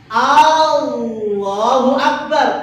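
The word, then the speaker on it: الله أكبر: Nah, itu hati-hati kalau barnya yang panjang akbar itu artinya beduk kendang ya bisa merubah makna. Jangan panjangkan di depan, jangan pula memanjangkan yang bagian akhir cukup. Lam menunjukkan ilah itu yang dipanjangkan Allah itu tok wis yang lainnya pendek.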